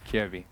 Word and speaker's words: Kjaerbye: Kjaerbye.